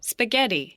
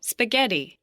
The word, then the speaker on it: spaghetti: 자, spaghetti, 한 번 더. spaghetti, 들리세요? 스퍼도 아니고 스프도 아닌데 그 중간 소리로 해서 스파게티, 그리고 개는 확실히 강세가 들어가 있다는 거 보실 수가 있을 겁니다.